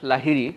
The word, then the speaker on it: Lahiri: All right, so my name is Lahiri, that's how I pronounce the last name.